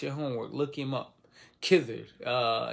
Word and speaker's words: Khidr: Khidr. In English, it's spelled with a K. K-H-I-D-R. Khidr.